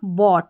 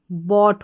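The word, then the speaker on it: bought: बाकी आपके पास कोड है ओ यू जी एच टी वाला। तो इसको आपने ऑट पढ़ दिया और बी का उच्चारण ब तो क्या बन गया? बॉट।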